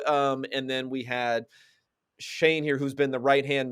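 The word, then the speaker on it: Schoen: here to joe shane i believe i tried to figure out the pronunciation because when he was being introduced uh they kind of just mumbled it i'm not sure if they knew how to pronounce it but i heard him say joe shane so joe shane from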